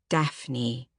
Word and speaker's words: Daphne: Daphne. 2 syllables.